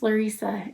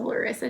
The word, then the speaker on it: Lesa: I mentioned, my name's Lesa and um I it gets mispronounced a lot. So, if you happen to see my name on my social media channels or something, I respond to Lissa, too.